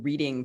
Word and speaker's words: Reading: lithub right so we'll announce our coup in reading pennsylvania huh huh get it huh it's pronounced redding if i say it's reading whitney it's reading